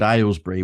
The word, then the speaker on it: Aylesbury: lessons because my London accent meant that I pronounced things like, the word Aylesbury, which was where I lived.